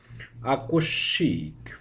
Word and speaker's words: আকস্মিক: উচ্চারিত হবে যেমন গ্রীস্য আকস্মিক পদ্ম এখানে স এর সঙ্গে ম যুক্ত ছিল বিধায় গ্রীস শব্দটিতে স দুইবার উচ্চারিত হলো আকস্মিকের ক্ষেত্রেও স এর সঙ্গে ম যুক্ত থাকার কারণে স দুইবার উচ্চারিত হলো তৃতীয় উদাহরণে দ এর